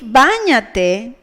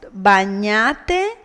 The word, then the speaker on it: báñate: If báñate, cómpralo, and llámame did not have the tilde, they would be pronounced bañate, compralo, llámame, according to the Spanish pronunciation rules.